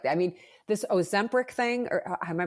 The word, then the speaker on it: Ozempic: This Ozempic thing, or am I pronouncing it right? Ozempic.